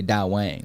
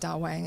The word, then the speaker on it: DAWANG: so you know, like where to do the da and where to say the wong.